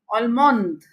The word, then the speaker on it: Allemande: So this is a basic rule for pronouncing the French language. There are always exceptions in the language, but the basic rule is that you have to pronounce till the last vowel present in the word.